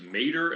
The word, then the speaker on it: Mater: Man versus Mater. It looks like it's the pronunciation. It's Matter, but with just one T.